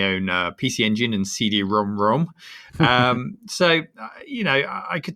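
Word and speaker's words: CD-ROM²: tell you how to pronounce that it's actually pronounced cd-rom rom oh yes i remember that from a previous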